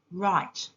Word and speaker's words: write: W is a silent letter in the word write.